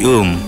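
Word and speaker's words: womb: উম মানে মাতৃগর্ভ তবে উচ্চারণটা কিন্তু ওম না উম ডাব্লিউ ও এম বি উম হ্যাঁ মাতৃগর্ভ ঠিক আছে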